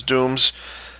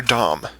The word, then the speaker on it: Dom: those zaku and those Dooms is it Doom or Dom I think it's Doom um even though it's spelled with one o uh there the super